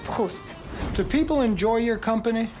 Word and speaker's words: Proust: Look, it's not Proust. It's pronounced Proust.